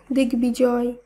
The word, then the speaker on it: দিগ্বিজয়: শব্দগুলিকে যখন আমরা শুদ্ধভাবে উচ্চারণ করব তখন বফলার উচ্চারণের কোনো পরিবর্তন হবে না। তাই দিগ্বিদিক, দিগ্বিজয়, দিগ্বলয়, ঋগ্বেদ এই প্রত্যেকটি শব্দের উচ্চারণ একই হবে।